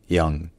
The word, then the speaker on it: young: avant une voyelle nasale, ce mot-là est prononcé young. Young. Young. Donc avec un son qui ressemble un peu au yan, au en français, mais qui est quand même plus centralisé, un peu plus relâché, et qui donne young.